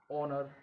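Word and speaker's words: honour: ऑनर, ऑनर में भी एच क्या है, साइलेंट है।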